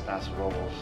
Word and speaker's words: Paso Robles: Paso Robles.